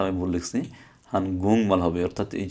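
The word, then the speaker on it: 한국말: এটা হানগুক মাল না হয়ে হান গুং মাল হবে, হান গুং মাল। এখানে আবার বানান একটু ভুল আছে, এই বানানটা আমি ভুল লিখছি, হান গুং মাল হবে।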